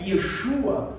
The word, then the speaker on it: Yeshua: E isso é tão extraordinário porque o nome de Jesus, né, Yeshua, como alguns dizem, se pronuncia dentro da cultura judaica, dentro do hebraico, Yeshua significa o Senhor salva, dado a expectativa no nome de Jesus.